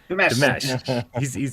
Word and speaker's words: Dimash: Dimash. He's taught me how to say it, but my brain just doesn't like one. It was the Monster Mash. They did the mash. That's it, right?